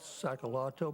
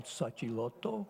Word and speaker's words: Sacilotto: My name is Sacalotto, properly pronounced Sacilotto.